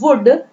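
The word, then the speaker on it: would: Now wood, in the spelling of wood, letter L is silent, letter L जो है वो silent है, इसे हम क्या पढ़ेंगे? wood। कई लोग इसको wood पढ़ते हैं, that is wrongly pronunciated, so we will read it wood, L is completely silent here।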